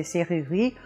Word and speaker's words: serrurerie: Now, if you want to cheat with this word, you can cheat a little bit and just put one single R in there and say serrurerie. Nobody will mind, and you'll be fine.